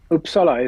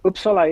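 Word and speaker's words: Uppsala: tell us where is is it uh upsa is that the way you pronounce it or oopsa oopsa is okay yes upsa is it's it's a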